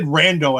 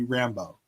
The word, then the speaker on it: Rambo: shows are just the Rambos. So I'm going to say the first one. I think it was. I think you said Rando, and I think it's supposed to be Rambo.